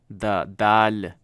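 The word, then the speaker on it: دال: It has a light da to it, but basically you would pronounce it as the. So THE, the, of our English, our word, that is how it's pronounced. The dal.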